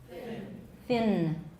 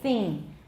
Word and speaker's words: thin: everyone is it thin it's thin thin that's better don't say thing can you all distinguish thin don't see everyone thin thing beautiful you're good please teach all of your friends because most people say it's very thing when they mean to say thin in taiwan english so teach your friends